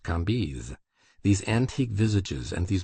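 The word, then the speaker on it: Cambis: was pronounced Lei KES c a m b i s pronounced kiz these antique visages and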